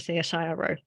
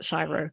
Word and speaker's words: CSIRO: was that there were so many silos at CSIRO, which is horrible because it rhymes.